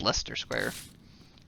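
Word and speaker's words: Leicester Square: those are you actually wondering apparently it's just pronounced lester square which is strange i'll say but we were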